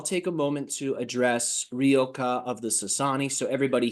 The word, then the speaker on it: Ryokah: name, Ryokah or Ryokah, depending on how you like to pronounce it. The Y is given more of an E sound, and that's why we say Ryokah.